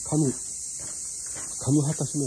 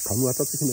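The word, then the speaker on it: 神畑姫: 姫をね、はっきり発音するのは口を開けないで、神畑姫って言ってるとね、神畑姫に聞こえち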